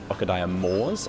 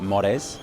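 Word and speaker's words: Okadaya More's: time to realize that this is pronounced Okadaya Moors and not Mores, because I was like, oh, surely it's Japanese, it would be More. But no, it's just the word more, like English.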